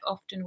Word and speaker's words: often: tell us yeah hello pronounce the word often with T or I actually this is yeah a lot of people will say you don't pronounce it with a tee but actually if you